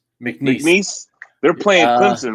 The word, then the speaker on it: McNeese: Is it McNeese? That's how you pronounce it. McNeese.